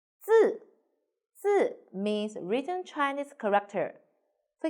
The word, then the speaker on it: 字: 字 Pay attention, your tongue is flat. 字 Very good. Now let's write it together. 我们一起来写。点横折横撇竖钩横字 means written Chinese character.